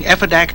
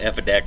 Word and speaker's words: Effidac: shortened the name or just called it Effidac so it would rhyme with back.